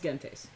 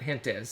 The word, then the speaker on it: Gentes: It is the Latin pronunciation. Okay, so it's Gentes.